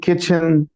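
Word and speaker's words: kitchen: जो वर्ड है की किचन किचन किचन ठीक है टी इस में वैसे ही साइलेंट होता है एवरीवन नोज सो अच्छा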